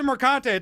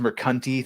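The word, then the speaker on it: Mercante: I know that Alysa marante tells me she's just faking it I believe that's pronounced meranti thank you very much know let's let's not get her name wrong it's less hot now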